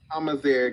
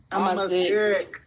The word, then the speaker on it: Amazigh: She's Amazigh, not Amazigh. Amazigh. Oh my god. Amazigh. Okay, never mind. That's how they say it. They go Amazigh.